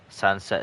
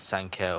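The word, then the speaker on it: Sancet: I think Sanset is correct. A lot of people read it as Sanket or Sanket. Yeah, I read it as Sanka, but Sanset I completely understand. I know again a lot of pronunciations are called uh like if it's a C, it's like S in Spain in a lot of things.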